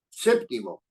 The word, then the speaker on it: séptimo: acento en la B séptimo es una palabra esdrújula séptimo séptimo No es cierto anterior a la penúltima no es una palabra